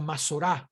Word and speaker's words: Masorá: Bien, ahora hay que hablar brevemente a manera de introducir acerca de la Masora del texto hebreo, o la Masorá, pronunciarlo correctamente, como resultado de las disposiciones rabínicas de este periodo.